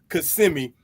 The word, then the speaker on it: Kissimmee: Hailing from Kissimmee, Florida, and a lot of people mispronounce that name, Kissimmee, but it's okay. We know in Florida it's Kissimmee.